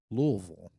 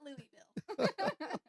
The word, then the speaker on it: Louisville: My family, being from Kentucky, pronounced it as Louisville, right? Yes. Okay, Yes, so not Louisville.